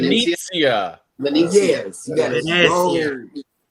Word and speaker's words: Venezia: I know that you're on the Venetia. Mhm. Venetia. You gotta say it like that, John Hill. said. Venetia. Venezia.